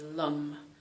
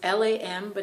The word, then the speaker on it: Lam: the root chakra is lum. It's L-A-M, but it's not pronounced lamb. It's not lamb. It's more, it's the A and the O, like lum, lum. It's like an A mushed with an O, okay?